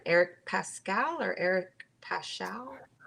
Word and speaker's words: Paschall: eric pascal or eric paschall i think it's pascal even though there's the h in there okay he's with the